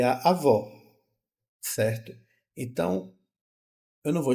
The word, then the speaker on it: avó: com acento agudo né a vó ela é mais aberta a vo ó ó a boca fica mais aberta e aí eu tenho